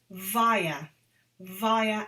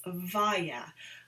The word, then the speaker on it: via: I travelled from London to New York via Amsterdam. And this is a word that is so often mispronounced. It's via, not vi, not via, it's via.